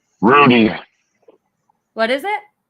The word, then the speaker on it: Rudeen: what how do you say your last name randine Rudy what is it Rudin Rudin okay Jason rud um I yes he